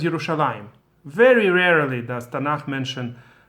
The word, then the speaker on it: Yerushalayim: yud, the pre-last letter, Yerushalayim, right? It's presumed in the pronunciation, but it's spelled as if it's Yerushalem, Jerusalem in English, right? Yerushalem, but it's pronounced as Yerushalayim.